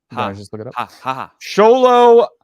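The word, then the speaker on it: Xolo: let me keep continuing solo marduina that's how you say his name that's that's like such a like you like you see that X and you're like holy crap how am I supposed to say that name yeah who is he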